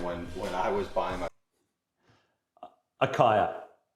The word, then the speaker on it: Acaia: Akaya is how I say it. No one's corrected me. Feel free to correct me in the comments if you want. But yeah, I say Akaya, and they are a fantastic scale.